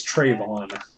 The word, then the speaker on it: Trayvon: Also, it's Trayvon. Trayvon. I don't know everything either. Yeah, you can't be racist and mispronounce this.